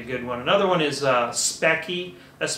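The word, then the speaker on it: Speccy: Another one is Specky, that's spelled S-P-E-C-C-Y, will report your RAM speed as well.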